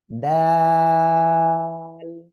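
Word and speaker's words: دال: ওকে, simple দয় আকার ল, কিন্তু এখানে মাঝখানে একটা জিনিস কি 3 আলিফ টান রয়েছে, হ্যাঁ, ডাল, ঠিক আছে?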